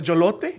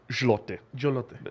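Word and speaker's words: złoty: like a fucking ice cream, like a jolote. No, zloty. No, it's like ZL. There's like no vowels in it.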